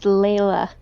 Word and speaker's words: Layla: that far ellis yeah you're pronouncing her name wrong oh i'm sorry lyla it's layla layla layla we've been over